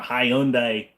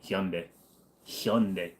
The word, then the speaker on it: Hyundai: hear all them country bumpkins calling it a Hyundai no the guy that runs the goddamn company pronounces it hund hund my mother's last name is H go ahead